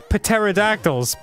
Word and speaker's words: Pterodactyls: Pterodactyls. It's not a P word. It is. The P is silent.